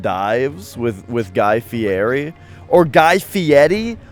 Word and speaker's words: Guy Fieri: Or Guy Fieri. When he said his own name, he said it like Guy Fieri. So maybe that's how you say it.